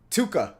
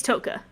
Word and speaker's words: Toka: Tuka. He says Tuka. Tuka, but it's Toka.